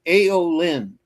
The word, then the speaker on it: Aeolynn: It's Aeolyn, which is spelled Aeolynn.